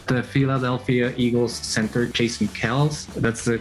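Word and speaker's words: Kelce: it glasgow all this time and next the mispronunciation of cells football fans have most likely been calling them the kelsey brothers for years the philadelphia eagles center jason kells that's the correct pronunciation he revealed in radio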